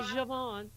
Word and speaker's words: JaVonne: It's How do you so, pronounce it? Am I doing too? It's No, JaVonne.